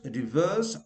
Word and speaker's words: reverse: The first reverse R should be pronounced, and the second R is not pronounced because it is followed by a consonant sound. So reverse.